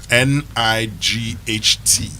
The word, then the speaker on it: night: I have told you that, in fact, night, N-I-G-H-T. That one is a problem. Used to be pronounced as nicht.